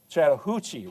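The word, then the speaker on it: Chattahoochee: right down here, the Chattanooga or excuse me, the the uh Chattahuchi River.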